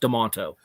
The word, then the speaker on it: Demento: demento um it's pronounced it's spelled mental it's pronounced demonto had him laid out